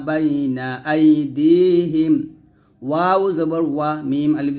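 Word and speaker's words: أَيْدِيهِمْ: বাইনা, ইয়ালামু মা বাইনা, হামজা ইয়া জবর আই, দাল ইয়া জের দি, আই দি, হা মিম জের হিম, আই দি হিম, একসাথে, ইয়ালামু মা বাইনা আইদিহিম, আইদিহিম দিয়ে টান দিবেন, ইয়ালামু, ইয়ালা, ইয়ালা, এরকম ভাবে পড়বেন না, ইয়ালামু, এরকম।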